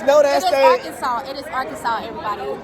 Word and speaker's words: Arkansas: if you guys know that stage it is arkansas everybody it's just pronounced arkansas oh my arkansas all my arkansas our kansas